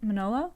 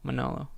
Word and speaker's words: Manolo: absolutely um am i saying it correctly sarah manolo manolo yeah that's correct okay because you made fun